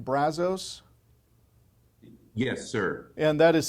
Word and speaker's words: Brazos: it the Brazos River is that the right pronunciation Brazos yes sir and that is southwest of Dallas